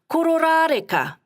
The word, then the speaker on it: Kororareka: Kororareka, Russell. Ko, ro, ra, re, ka.